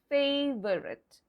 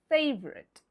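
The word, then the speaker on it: favourite: Well, this word is sometimes pronounced according to the spelling as favorite. It's a favorite word. No, it's not a favorite word. What is it? It's the O and U and the E at the end. These are the silent letters. You can't pronounce them. So, what's the pronunciation like? Well, it's favorite. So, it's everyone's favorite word.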